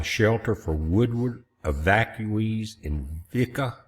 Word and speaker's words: Vici: They're uh providing shelter for Woodward evacuees in Vici, V.I.C.I. That's how you pronounce it.